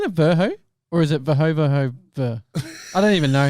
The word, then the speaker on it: Verhoeve: V because I know he Verho? hates- Isn't it Verho? Or is it Verhoeve?